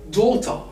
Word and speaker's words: daughter: In this specific word, you just have to actually consider all the set of letters as O. So the A-U-G-H are quite silent.